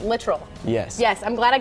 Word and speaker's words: Littrell: and he told you he corrected me on the way to pronounce it literal yes yes I'm glad